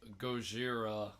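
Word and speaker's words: ゴジラ: Over in Japan, the country that it was made in, it's it's spelled like Gojira, like G-O-J-I.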